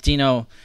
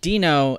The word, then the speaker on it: Deno: may have been noticing I'm calling it Dino in not den oh that was one thing that a lot of people had mentioned in the comments so that I was mispronouncing Dino so I went back